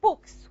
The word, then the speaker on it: books: Now, how do you pronounce it? You pronounce it as za or sa? Sa. You say books. Why? The ka is voiceless. And it's going to affect the pronunciation of the plural S, and it's going to be voiceless as well. So you're going to pronounce it as sa.